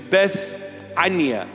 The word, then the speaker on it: Bethania: In English, it is pronounced Bethany, but in the original pronunciation, in the Hebrew Aramaic pronunciation, Bethania.